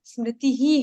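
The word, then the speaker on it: स्मृतिः: एक चीज पूछना जैसे मती को तो आपने मती बोला समृति में हा की आवाज आई मृति ही हा ई है ना ई के बाजू में वो विसर्ग है इसलिए उसको खींचना म ओनली मति वहा विसर्ग नहीं है ना अ स्मृति के बाजू में विसर्ग है ना स्मृति ही हो जाता है जैसे संस्कृत का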